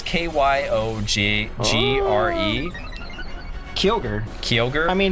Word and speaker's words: Kyogre: it was kai roger i say that but there's no r before so once again it's probably like kyogre or something like that it's k-y-o-g g-r-e kyogre kyogre i mean it's